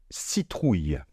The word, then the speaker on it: citrouille: La première partie, c'est si. Ça ne pose pas trop de problème. Après, on a trou, comme un tronc. J'ai déjà parlé du R, j'ai déjà parlé du digramme OU. Mais à la fin, on a le son y, comme les yeux, y.